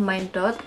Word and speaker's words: Mine.Dot: Jadi dia ini tulisannya adalah Mind, ada titiknya ini dibaca dot, jadi bacanya adalah Mind Dot.